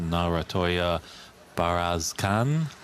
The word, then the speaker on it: Narantuya Bayarsaikhan: Match facing the defending champion Mink Nutcharut against Narantuya Bayarsaikhan. If I'm pronouncing that correctly.